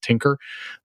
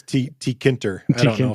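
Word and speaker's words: Tkinter: just hang out but i've often heard tk inter pronounced as tinker which is like a purely dyslexic thing so excuse me if i slip into that here mine is t t kinter yeah i think yeah i think it's not meant to be pronounceable uh playing with this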